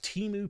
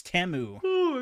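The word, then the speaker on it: Temu: to build teu PCS or I'm sorry it's TAMU TAMU PCS yeah I saw I saw that clip on Tik Tok I was like wait that's how you pronounce it I've been seeing it wrong this whole time yeah everybody just said Teo but it's apparently apparently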